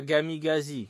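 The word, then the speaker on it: камикадзе: Il appelait ça Gamigazi, qui est la prononciation en russe.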